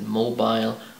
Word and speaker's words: mobile: Alright, today's question is, how do you pronounce the word M-O-B-I-L-E? And the answer is, you can either pronounce it mobile or mobile.